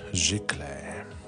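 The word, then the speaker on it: giclée: And I learned last live, Mr. Phil taught me that this is pronounced gicle.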